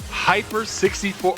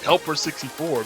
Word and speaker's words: Heiper 64: All right, it's spelled HEIPER 64. So at first I was like, who's Helper 64? But then I'm reading it out loud now and it's Hyper.